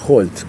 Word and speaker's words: Holt: Y Holt también, suena la H, aparece la J.